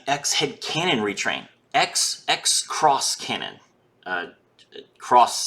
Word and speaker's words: Xross: Cross spelled with an X for some reason.